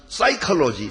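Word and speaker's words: psychology: 영어를 아시는 분들은 아시지만 싸이클로지 사이코라고 말할 때 앞에 피가 있습니다 근데 비자를 바로 맞질 않지요 그러니까 사이코를 말하는 거세요 사이클로지 심리를 말하는 거죠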